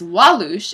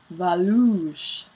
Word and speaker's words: Walloosh: So that it's called Valooosh because the teacher's name is Walloosh, and she pronounces the W's as V's. So the chapter was called Valooosh instead of Walloosh.